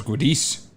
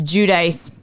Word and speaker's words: Giudice: I thought it was I thought it was goodies it's judice I watched multiple things that said it's judaiz um not only has